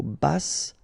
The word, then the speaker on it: basse: À taille basse, okay, so basse, final E not pronounced, but then you pronounce the double S, so S, basse.